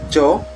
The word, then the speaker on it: yo: So I that's yo yo. In other Latin countries, they pronounce it like jo. But it depends on the speaker.